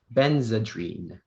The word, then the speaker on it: Benzedrine: All right, speller number 12, your word is benzedrine.